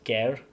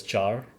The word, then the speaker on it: char: It is pronounced as care. Okay. And some people also um pronounce it as char.